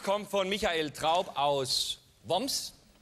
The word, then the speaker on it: Worms: Der erste Brief kommt von Michael Traub aus Woms. Die korrekte Aussprache heißt WOMs. Geschrieben Worms, aber mir wohne in Woms.